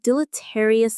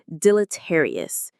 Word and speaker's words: deleterious: It sounds a little dramatic, and it is deleterious. Let's pronounce it. Deleterious. Deleterious. The main stress is on the third syllable.